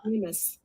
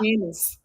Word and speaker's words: mandamus: Mandamus. Shut up. Mandamus.